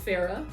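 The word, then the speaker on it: Farrar: That's John Ferrer, or if you want to do the Australian pronunciation, John Farah and Bruce Welch.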